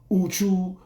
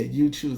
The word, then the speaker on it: Uchoose: when I was gaming, people would mess it up. Uchu, they didn't know how to say it, like, because it's one word. But yeah, Uchoose.